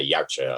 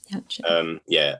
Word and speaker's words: Yautja: Yeah, probably how you did there, Yautja, I think. Yautja.